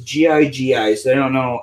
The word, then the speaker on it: Gigi: It says G-I-G-I, so I don't know how you pronounce that.